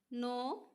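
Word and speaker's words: know: পড়িব লাগিব এর ক্লাইম থাম কম দাম নি নো নাইফ ন এত আমি সি এল আই এমবি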